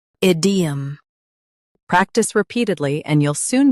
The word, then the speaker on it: idiom: Stress ID and keep 'em light. Id. E. Idiom.